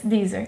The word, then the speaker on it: Deezer: So how do you spell that, Deezer? Like Geezer? Z-E-R. Yes, Deezer.